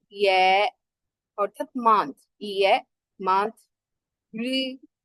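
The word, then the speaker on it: 日: রি, রি, এটার উচ্চারণ কি অনেকটা র আর একটা ই মিক্স করে, রি। ডাইরেক্ট রি বলবো না আমরা, ইও বলবো না, মাঝে মাঝে রি, রি এরকম টাইপের হবে, রে অথবা সান।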